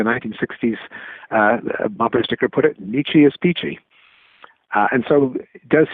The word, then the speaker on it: Nietzsche: I realize I've been mispronouncing Nietzsche's name, but I'm going to continue for the sake. Well, we can get it to rhyme with peachy if we pronounce it with a long e at the end, even if it isn't the German pronunciation.